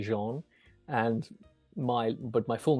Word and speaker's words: Jean: is French so it's spelled j e a an but it's actually Jean and my but my